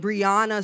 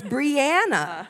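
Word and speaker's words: Breanna: But as far as having the facts, being able to pronounce the names like that, you know, saying Briana Stewart is like saying Stephven Curry, it's Brianna Stewart.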